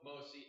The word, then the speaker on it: MOSI: So the common lines are MISO, MOSI, and S-clock. And that's how you pronounce them. MISO, MOSI, S-clock.